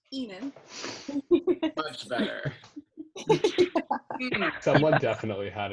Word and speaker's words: Aenus: And Aenus. Nipples, shafts. Yes. Okay. Very Yeah. Pronunciation guide. Hang on. Oh. Enos. Aenus. It's pronounced Enu.